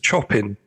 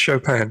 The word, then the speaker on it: Chopin: And they said, they looked at the record label and said, "Oh, we're listening to some Chopin." And they said, "Well, it's actually pronounced Chopin, but yes."